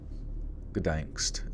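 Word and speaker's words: Gdańsk: Gdansk.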